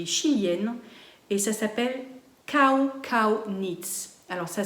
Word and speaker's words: Kau Kau Knits: chilienne et ça s'appelle Kau Kau Knits. Alors ça s'écrit K-A-U-K-A-U, mais en espagnol on prononce chaque lettre, elle le dit, donc ça se dit Kau Kau Knits.